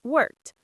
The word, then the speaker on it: worked: Worked ends with a t sound.